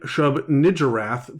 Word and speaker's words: Shub-Niggurath: Now, for those of you who are screaming at the radio, I am pronouncing it Shub-Niggurath because I'm not a horrible person.